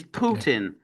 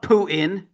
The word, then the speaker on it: Putin: It's Putin, not Putin.